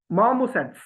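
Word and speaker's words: marmosets: तो इसकी प्रोनाउंसिएशन होगी, आर तो इसमें बोला ही नहीं जाना। तो मामोसेट्स, मार्मोसेट्स। अब गोरे जब इस तरीके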